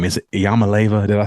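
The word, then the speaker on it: Iamaleava: Is it Yamaleva? Did I say it correctly? Yeah, Yamaleva.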